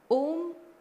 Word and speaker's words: Om: of universe is silence om the word om has three syllables a U and M A means acharan actions